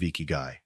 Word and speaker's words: ikigai: Let's journey together into the heart of Ikigai, exploring how it can help you navigate the chaos of modern life and build a simpler, more intentional, deeply fulfilling existence.